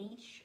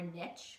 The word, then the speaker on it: niche: to my video the importance of creating a niche or niche either way you pronounce it is fine by me niche or